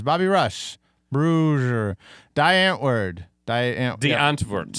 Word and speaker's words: Die Antwoord: The Antwoord. Yeah. That's how you pronounce it.